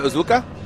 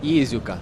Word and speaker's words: Iizuka: Kazuya Uzuka? Iizuka. Iizuka. Like a double.